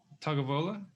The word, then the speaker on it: Tagovailoa: But talking about football, Tua Tagovailoa, how do you say his last name?